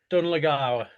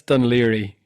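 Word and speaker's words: Dún Laoghaire: Du n is one word. Yeah. And then the second word is L A O G H A I R E. That's, you know, two words. So, can you pronounce that for me? Donawa. One more time. Dunlawa. No, it's not that. That's Dun Liri.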